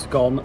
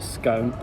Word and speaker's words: scone: i get shouted at it is pronounced scone not scone and they've got jam